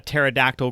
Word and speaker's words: pterodactyl: can't you hear a pterodactyl go to the bathroom? Oh, gosh. No, I don't know why, Joe. Because the P is silent.